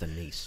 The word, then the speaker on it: anise: I think it's pronounced anise. Yeah, it's anise, yeah. And the actual plant itself, it's star anise. It actually looks like a star. Not anus.